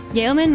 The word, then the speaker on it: yeoman: Yeoman rhymes with bowman. Yo, man.